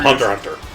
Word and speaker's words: Hunter x Hunter: Unlike Gun Sword, which is the X is not pronounced. Which is just gun sword. It's like Hunter x Hunter is Yes, it's called Hunter Hunter.